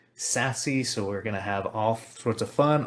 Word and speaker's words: SASE: what is sassy and yes that is how you pronounce s-a-s-e sassy so we're gonna have